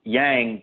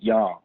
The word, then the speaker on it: Yang: most people pronounce it yang but to check the agents themselves the Chinese themselves always pronounce it young so if anyone's listening